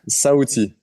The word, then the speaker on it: Sauti: And more recently, this track, how do you say it? Sauti or Sauti? Sauti. Sauti. It's a Swahili language.